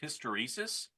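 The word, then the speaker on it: hysteresis: Oh, and uh by the way, Ken, the word is pronounced hysteresus and yeah, it's a it's a function of the magnetic domains.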